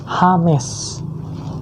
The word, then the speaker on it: James: Nah itu namanya gigi ketika di baju tulisannya James tapi ketika dibaca orang-orang kan bacanya bukan James lagi tapi Hames jadi pelafalannya beda ya